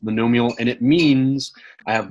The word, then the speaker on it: monomial: Mon Amour factors yeah so that word is pronounced monomial and it means I